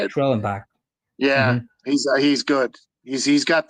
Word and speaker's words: Schwellenbach: Schwellenbach.